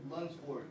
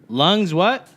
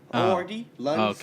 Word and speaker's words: Lunsford: How do you say your last name again? Lunsford. Lungs what? Lunsford? Lunsford? Yeah, Lunsford.